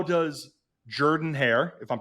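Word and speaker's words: Jordan-Hare: anything again uh he was asked how does Jordan hair if I'm pronouncing that correctly that's correct compare compared to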